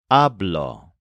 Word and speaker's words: hablo: Notice that the stress of these words is on the first syllable, which sounds like ab. The part that changes doesn't get stressed.